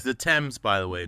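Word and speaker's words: Thames: but yeah it's the temps by the way not the themes no not the themes you heathens you American heathens oh my goodness it's the temps exactly and it's not Lester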